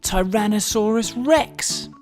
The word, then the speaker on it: Tyrannosaurus rex: most famous dinosaur ever tyrannosaurus rex how do you say that again tai ra na sa rus rex it's often called t-rex